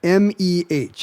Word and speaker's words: meh: M-E-H. I would pronounce that meh.